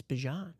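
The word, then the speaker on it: Bijan: He's like you guys are actually saying my name wrong. It's Bjan.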